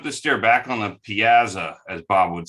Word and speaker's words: piazza: is is that this this is pronounced piazza not piazza so sorry if i'm